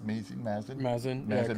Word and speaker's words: Mazin: you've got Druckman, you've got how do you pronounce Mazin? Mazin, yeah, But correct.